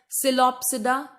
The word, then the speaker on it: Psilopsida: Number one is Psilopsida, P is silent, then Lycopsida, then Sphenopsida and Pteropsida.